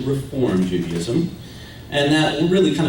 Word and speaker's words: Reform: There's no ED on the end of that. It's actually Reform Judaism.